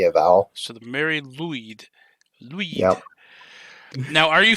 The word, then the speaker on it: Lwyd: It's the Mary Lwyd is how you'd probably say it. Lwyd? Lwyd. Yeah. W in Welsh is basically can be a consonant, but it's also a vowel, and it can have